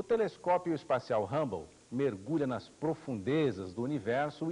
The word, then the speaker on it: Hubble: Edwin Hubble, H-U-B-B-L-E, que aqui se pronuncia Hubble, foi o maior astrônomo do século XX.